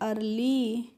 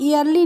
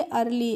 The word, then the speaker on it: early: Next है EARLY, तो EARLY को हम पढ़ते हैं अर्ली। इसको हम ईयरली नहीं पढ़ते हैं क्योंकि EA का जो प्रोनाउंसिएशन होता है वो अ होता है, इसीलिए अर्ली।